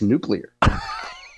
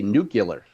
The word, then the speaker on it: nuclear: North County to mispronounce nuclear. Every time they talk about it on a radio show, they say Nuc-you-ler, like they're George W. Bush.